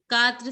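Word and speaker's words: quatre: So it has to be pronounced as Tua. T. Very good. Very good. Now the fourth one. Katra.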